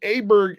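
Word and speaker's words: Åberg: uh tiger and ludvig aberer now he pronounces it aberer and he says that's the way you pronounce It in America where he's from and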